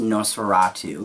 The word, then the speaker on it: NOS4A2: Now, it's spelled NOS4A2, but it's pronounced NOS4A2, like the vampire.